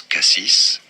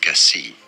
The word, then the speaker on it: Cassis: say it well now in French there are two different ways of pronouncing it some say it as Cassis others as Cassie Cassie or Cassis Cassis